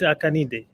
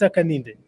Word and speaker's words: Hakainde: Who is President Hakainde? Hakainde. Haka. Let's break it down. Haka and then Inde.